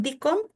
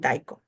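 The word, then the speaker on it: DICOM: acá algunos le dicen dcom y algunos le dicen dacom Creo yo que es lo mismo al menos yo lo entiendo por las dos pronunciaciones sin ningún problema y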